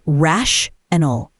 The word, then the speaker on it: rational: In American English, rational is rash-anal. The middle part sounds like rational.